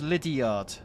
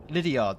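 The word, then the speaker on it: Lydeard: Danny, it's pronounced Lydiard. Lydiard.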